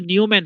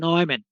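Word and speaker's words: Neumann: আছে ডিরাইভেটিভ থাকবে না নয়মন বাউন্ডারি কন্ডিশন উচ্চারণ কিন্তু নিউম্যান হবে না উচ্চারণ হবে নয়ম্যান তাইলে আমাদের বাউন্ডারি কন্ডিশনে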